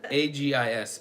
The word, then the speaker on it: Agis: A-G-I-S. What did I say? Aegis? It's not Aegis. Aegis. It'd be Agis. Agis.